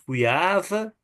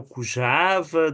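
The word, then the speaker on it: Kujava: Então, eu sou o Cuiava, o Cujava, depende da pronúncia, sou descendente, parece pelo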